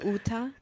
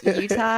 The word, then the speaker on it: Utah: I love it when she said Uta. Uta instead of Utah.